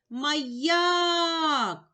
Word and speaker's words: маяк: Визначимо наголос. Покличемо слово маяк. Наголошений другий склад.